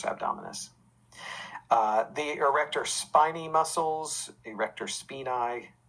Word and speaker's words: erector spinae: the erector spiny muscles erector spinae muscles is how that's pronounced in latin but most people say spiny erector spiny muscles uh a lot